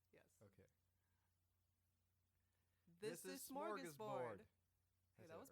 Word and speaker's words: Smörgåsbord: This is Smörgåsbord.